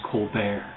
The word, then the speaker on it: Colbert: That's Colbert, Colbert, only it's pronounced Colbert.